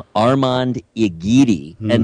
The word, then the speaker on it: Armand: How do they prefer to have that pronunciated? We will find out. Armand. My name is Armand.